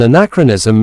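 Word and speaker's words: anachronism: Our third word for today is anacronism.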